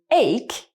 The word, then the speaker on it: ache: A silent H can be found after another consonant. For example, we have the word ache containing CH, very common